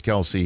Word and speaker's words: Kelce: is it true your your name isn't really pronounced kelsey it's kels and somebody calls it kelsey is that true did